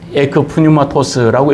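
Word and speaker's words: ἐκ πνεύματος: 에코프뉴마토스라고 읽는데 이것은 바로 인간이 한 일이 아니라는 겁니다.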